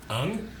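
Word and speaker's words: Aang: Ong airbended a sphere around them and ice formed, and he couldn't remember Yeah, anything we're after going.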